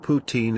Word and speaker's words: poutine: So I can know how to if I'm pronouncing it correctly. Wow. You expect him to know what poutine is and you don't know who the doors are.